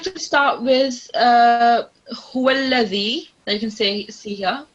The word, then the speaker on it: هو الذي: So if you've done that, now put it forward, so upwards, and touch your upper teeth, and then press your upper teeth with your tongue, and then now pronounce it. So huwallazi.